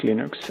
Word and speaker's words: Linux: This is Linux thals And I pronounce Linux as Linux la licencia bajo la